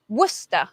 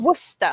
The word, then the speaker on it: Worcester: Next, we Do have they pronounce it that way? Yep. Wow. Worcester. It's right near Asheville. Worcester.